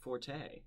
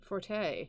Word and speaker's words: forte: bilingual and you said forte forte forte there you go which is the american pronunciation of the french word ford oh those are